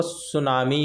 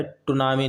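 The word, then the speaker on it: tsunami: वो सुनामी होता है भाई। टनामी नहीं होता। टी साइलेंट होता है।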